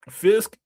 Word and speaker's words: Fisk: Fisk rhyme with fist.